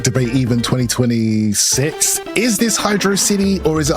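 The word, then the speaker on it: Hydrocity: Is this Hydro City or is it Hydroity? How would you pronounce this?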